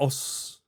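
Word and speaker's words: 押忍: hey, you'd be like os. It has a lot of different os. We don't pronounce the u at the end.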